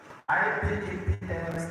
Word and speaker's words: IPEPM: It is pronounced as IPEP. If you recall the way you pronounce pneumonia, if you recall the way you pronounce psychology, that is how you silence the last P.